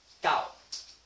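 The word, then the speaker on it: 九: will show you is gao. Mm. In Taiwanese, it means nine. Nine. So it sounds like this. Gao. Gao.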